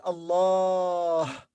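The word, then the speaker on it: الله: you may notice here there is alif we pronounce alif long vowel in the middle we say allah but this this alif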